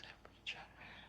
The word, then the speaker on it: temperature: The stress is on the first syllable.